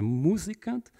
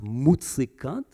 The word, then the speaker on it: Musikant: that is, entanglements with Mr. Musikant, which Strache pronounced Mutzikant, right, in the debate to code what he wanted to do.